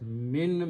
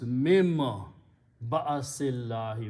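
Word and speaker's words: مِنْ بَأْسِ اللَّهِ: Min means from. But when noon and ba come together, the sound of this noon modifies to sound of mim. So it becomes mim ba'asillahi.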